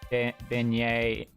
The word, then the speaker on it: beignet: Pronounced Beignet?